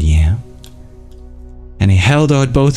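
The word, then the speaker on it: yaṃ: It's pronounced like YAM.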